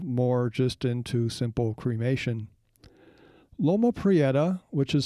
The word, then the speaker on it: Loma Prieta: Mountains from a location known as Loma Prieta Mountain the Santa Cruz Mountains is south of